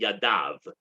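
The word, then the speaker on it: ידיו: how to pronounce it it's actually written you'd dahl above as if it said his hand but our tradition is to pronounce it yadav is hands and when it says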